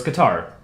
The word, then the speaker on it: Qatar: Because I originally pronounced it Qatar, but when they hosted the World Cup a number of years ago, everyone called it Qatar. Okay, so so it's Qatar.